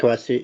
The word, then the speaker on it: Quay Street: Yeah, it looks like Quay, but it's Quay.